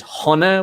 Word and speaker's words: Sona: name the whiskey bar which the way we pronounce it is hana which is happiness but it's spelled s-o-n-a so